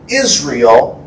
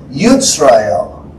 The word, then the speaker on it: Yisrael: So Israel wasn't really Israel. It was Yisrael.